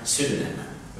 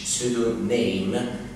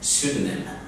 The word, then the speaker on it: pseudonym: كلمة اسم مستعار، كلمة اسم مستعار في الإنجليش اسمها pseudonym، مش pseudonym، pseudonym.